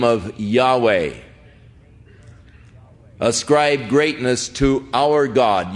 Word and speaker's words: Yahweh: of Yahweh now again Yahweh is the name of God as far as we can know pronunciations that is as close as man some say Jehovah but uh more generally